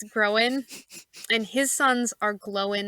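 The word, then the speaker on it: Gróin: Then you have the Sons of Groen, which is spelled groin. It's not pronounced that way, just so you know. It's Groen, and his sons are Glowin and Owen.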